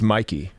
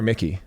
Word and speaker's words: Miki: It's Mikey. Mikey. Is it Mikey or Mickey? Mikey? Mikey. Mikey. Mikey. All right, Mikey. But it's spelled Mickey. Yeah. MIKI. See, this shows I'm not really a Started commissioner.